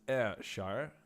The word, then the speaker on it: Ayrshire: It is pronounced Ayrshire. You can pronounce the Y as an I, and that is how you pronounce it.